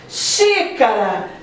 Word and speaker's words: xícara: Xícara. Xi é a sílaba tônica.